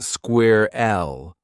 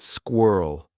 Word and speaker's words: squirrel: At first, James thought it was pronounced square L, so he kept saying it wrong. The funny part? His younger brother, who spoke fluent English, couldn't stop laughing every time James said it. "I didn't understand why he was laughing," James said. "But then I watched the video again. I slowed it down and noticed the narrator pronounced it squirrel.